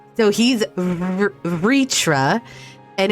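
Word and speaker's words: Vrtra: oh i get it so i'm supposed to pronounce the vowels in all the names as if they're there but they're not so he's ritra and it's midgard soremers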